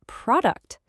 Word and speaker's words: product: And for our last practice word, let's look at product. The stress is on pro, which means that u in the second syllable becomes a schwa. Product. It's that same lazy relaxed sound again.